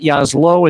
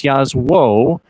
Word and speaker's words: Jasło: It's not Jaslo, it's Jasło. It's not Czarni, it's Czarni. Czarni Jaslo. It is Polish in derivation.